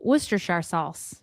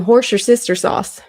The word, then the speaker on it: Worcestershire: Oh, Worcestershire sauce. Okay. Worcestershire, yeah. All right. You know what she said? She said she needed some horse your sister sauce.